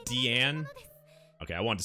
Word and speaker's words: Diane: Wait, so it's pronounced Deanne? Okay, I wanted to say Diane. Deanne.